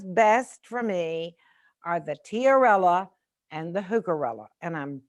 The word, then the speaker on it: tiarella: your presentation in your garden yes it was tiarella t i a r e l l a tiorella there's hookera carabelles there's hookerella which is a